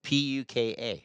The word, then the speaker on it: puka: Is that how you say it? Puku. P U K A. Puka. Oh, puka. Puka.